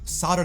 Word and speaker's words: solder: He said he just needed to solder the connections. Now, if you just hear that word without seeing it, you're never going to imagine there's a hidden L in there.